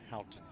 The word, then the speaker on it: Houghton: Houghton is how you pronounce it.